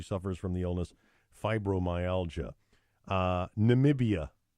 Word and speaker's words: Namibia: tweeted that she suffers from the illness fibromyalgia Namibia Namibia Madam President Trump mistakenly called it nambia during a species night in nations Namibia's the